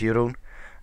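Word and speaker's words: Jeroen: is uh Jerome uh which you know in the in my country where I live so the Netherlands you pronounce it as uh as Yun um so no sorry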